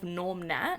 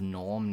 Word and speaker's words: Gnorm: um the cast of Norm net oh it's nor it's g n o r mnet cuz there's a silent G in that yeah well yeah yeah